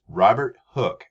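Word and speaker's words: Robert Hooke: remember his name is robert hook it has an e on the end but the e is silent and robert hook is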